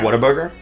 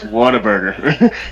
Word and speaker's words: Whataburger: I used to call it Whataburger. Is it not Whataburger? Yeah. No, it's Whataburger. Because I looked at the spelling, like, because someone. Yeah, I was saying it wrong.